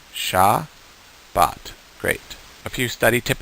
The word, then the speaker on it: Shabbat: that down so it the first sound is sha the second sound is ba and the last sound is but the second syllable is bot the first syllable is sha sha but say that with me sha bot great a few study